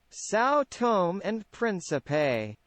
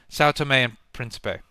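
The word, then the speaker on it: São Tomé and Príncipe: to pronounce this properly sa and princie that's not how you pronounce that that can't be how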